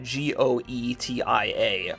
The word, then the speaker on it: Goetia: Gaetia is meant to be spelled G-O-E-T-I-A, pronounced Goetia, and is a synonym for black magic derived from a Greek term meaning sorcerer.